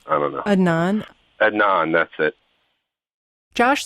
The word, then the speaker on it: Adnan: Adnan, that's it.